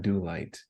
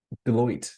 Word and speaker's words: Deloitte: It's not Do Light. It's I always say their name wrong. Starts with a D. I'm not familiar. Deloitte. There it is.